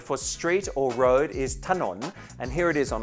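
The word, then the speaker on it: ถนน: We pronounce this as ถ น น, a rising tone. ถ น น.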